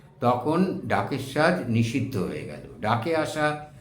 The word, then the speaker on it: ডাকের সাজ: রাংতা আসতো বিদেশ থেকে জার্মান থেকে আসতো এই রাংতা ডাক যোগে আসতো ডাক যোগে আসতো বলে লোকে বলতো ডাকের সাজ ঢাকের সাজ নয় ওটা ভুল উচ্চারণ একে বলা হতো ডাকের সাজ এই রাংটার পাতা কেটে